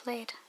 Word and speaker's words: plaid: It's an interesting rhyme there, because, you know, plaid and plaid, but it rhymes with glade.